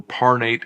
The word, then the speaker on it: Parnate: Sorry, it's been such a long time I forgot how to pronounce them. Parnate and Nardil.